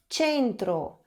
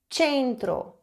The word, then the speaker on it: centro: O mesmo vale para a língua italiana, onde o E e o I são os diferentões, digamos assim, porque eles mudam a pronúncia do C e do G.